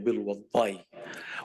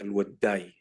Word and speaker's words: الوداي: هو وأبنائه بيوضئوا الناس فلقبوا بالوضاي، ولأنه إحنا ما بنخفف الضاد ما بننطق ضاد فبقت الوداي.